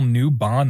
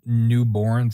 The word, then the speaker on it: Newbon: list pulled up here I totally mispronounced Neil's name it's Neil newbon not Neil newborn sorry uh Jennifer English